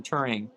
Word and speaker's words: Turing: Benedict Cumberbatch plays a star, and if you don't know the story, it's about Alan Turing, who basically invented computers.